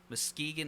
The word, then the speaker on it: Muskegon: Muskegon Lassies.